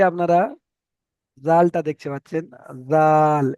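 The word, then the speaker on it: ذال: আচ্ছা, এখানে এই যে আপনারা জালটা দেখতে পাচ্ছেন, জাল, এটার উচ্চারণটা হবে পাতলা করে, বুঝতে পেরেছেন? জাল, জাল, পাতলা করে উচ্চারণ হবে।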